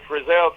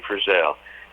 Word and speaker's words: Frizzell: The Frizzell people, we've got it ever since I can remember. People called us Frizzletail or Frizzle, or you know what I mean? They come up with all kinds of names, and I'm glad we're not the only ones.